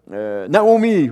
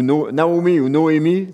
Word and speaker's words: Noémie: Naomi ou Noémie, prononcez-le comme vous voulez.